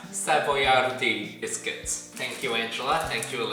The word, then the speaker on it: Savoiardi: I asked my sister-in-law's mother how to pronounce this product in Italian, and she told me that it's pronounced Savoiardi Biscuits.